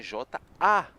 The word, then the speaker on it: jaune: E amarelo em francês é J-A-U-N-E. E a gente pronuncia jaune, jaune.